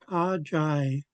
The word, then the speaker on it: Ajai: Ajai. So we have a J in front of I, so it's pronounced Jai.